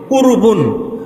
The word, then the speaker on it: কুরবানি: কুরবান এটা মূল শব্দ এখান থেকে উর্দু বা ফার্সি উচ্চারণ আমরা করি কুরবানি অর্থাৎ যার মাধ্যমে আমরা